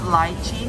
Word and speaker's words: lychee: Lychee, how do you pronounce it? Lychee. I think that's not. It's lychee. Lychee.